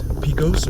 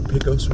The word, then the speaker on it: Pecos: over the place there this light up here is Picos or Picos Road depending upon how you pronounce it I've heard both ways I've had comments in